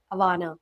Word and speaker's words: Awana: You started Awana. Is that how you pronounce it? Awana Health. Awana.